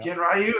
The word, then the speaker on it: Ganryu: Ganryu, okay.